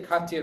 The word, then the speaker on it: Katia: Karen, did you get, Katia. Katia? I always want to say Katya because my neighbors, it says it the same way, and she says it Katya, but it's spelled the same way, so.